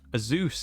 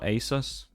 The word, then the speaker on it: Asus: Bring in, I guess, a Zeus, isn't it? Technically the way that people pronounce it. Oh, Shags has died. A Zeus or Asus.